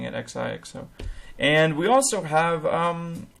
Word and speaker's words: Xixo: I was just informed right now that it is one word, like you would say Xixo.